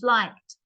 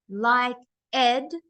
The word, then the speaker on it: liked: yeah it didn't change liked because it's not liked likeed that's two syllabus that's not how you pronounce the word like want one wanted